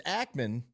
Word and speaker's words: Ackman: If it's Ackman, he said it wrong because he said Ackerman.